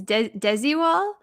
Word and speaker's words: Desigual: Yes, this is I looked up how to pronounce it and I watched a video. This is Desigual, I think Uh-huh.